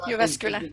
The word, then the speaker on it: Jyväskylä: Going back to office, Anu actually studied in Jyväskylä University, and Jyväskylä is that the right pronunciation, Anu? Yes, that's perfect. Jyväskylä, yes.